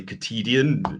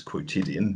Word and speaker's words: quotidian: english for quotidian purposes i tend to say katydian just because that's how i first pronounce the word so i'll carry on